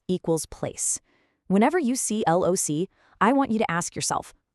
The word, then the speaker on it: loci: And its plural form is loci, pronounced loci, with the IPA spelling of primary stress mark, l o u {dot} s i i.